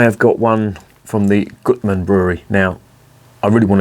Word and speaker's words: Gutmann: Bose reviews I have got one from the Goodman Brewery now I really want to call this the Gutman Brewery because I don't have something common with